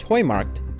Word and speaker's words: Heumarkt: as well this Plaza is pronounced Hoy marked and translates to hey